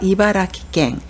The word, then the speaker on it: 茨城県: 그리고 이바라라는 글자가 들어간 현이 이바라키 현입니다. 그래서 이바라키갱, 이바라키갱이라고 읽습니다.